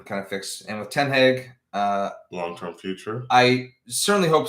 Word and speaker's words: Ten Hag: Ten Hag. Is what the Dutch really want to pronounce as, but I'm not going to do that every time.